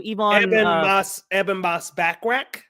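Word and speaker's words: Ebon Moss-Bachrach: Ebon Moss Backrack.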